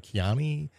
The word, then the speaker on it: Kyani: Well, how do I pronounce it? Kyani?